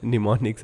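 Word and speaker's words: mnemonics: ये am silent है। निमोनिक्स हम लोग देखेंगे।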